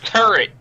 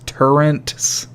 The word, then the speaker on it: turret: people who pronounce turrets turrents with an N in there people deserve Tourette's I